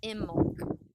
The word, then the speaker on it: Imbolc: February 1st and 2nd it's spelled i m b o LC but pronounced imul it corresponds with the